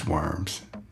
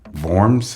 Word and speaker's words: Worms: So, in German, the name is close closer to Worms or whatever, V O R M S. I guess that's how you say it.